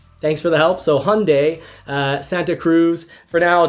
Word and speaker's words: Hyundai: And, we'll even maybe have time for Hyundai. I'm being told I'm supposed to pronounce it like Sunday with an H, so Hyundai. Thanks for the help. So Hyundai, Santa Cruz.